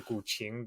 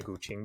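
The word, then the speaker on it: guqin: and you also mentioned this earlier with the guing the the seven string Chinese instrument I'm curious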